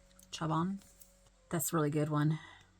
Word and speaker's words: Chabon: Chabon.